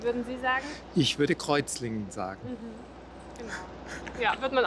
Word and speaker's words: Kreuzlingen: Wissen Sie auch, wie es auf Schweizerdeutsch ausgesprochen wird? Nee. Rützlinge, so ungefähr.